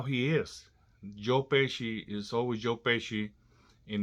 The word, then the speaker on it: Pesci: purpose or he really didn't know how to pronounce Joe Pesci's last name so I kept calling him pesky Mr pesky Mr pesky here Mr pesky there